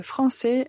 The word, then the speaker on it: français: Bien sûr, comme on parle français, la première nationalité dont on parle, c'est la nationalité française. Donc, le pays, c'est la France. Au masculin, nous allons prononcer français, français.